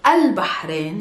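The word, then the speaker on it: البحرين: and it's not bad there's a hat sound if you're still struggling with planting your hat click here and this will lead you to the lesson of how to pronounce your ha anyways it's just pushing air outside your mouth no vocal chords are not yet vibrating and it's al bahrain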